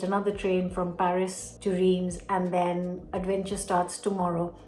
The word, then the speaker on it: Reims: I am going to a place called Re. This is how it's pronounced in English, not in French.